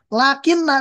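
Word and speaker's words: لكنّ: Lakinna dan lakin maknanya sama-sama. Akan tetapi tidak ada perbedaan dari segi makna kecuali hanya dari segi harakatnya saja. Di sini mah lakinna dengan nun tasydid.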